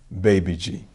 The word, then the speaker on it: Babaji: Caucasus Mountains of Russia her name is Babaji BBG or perhaps spelled as babaji which we pronounce as baby G master fob Muhammad's father